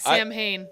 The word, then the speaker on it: Samhain: So Like Sam Hain. I think you were close enough. Well, I think Samhain is really pronounced Samhain. It's Celtic, so Samhainophobia, I would say.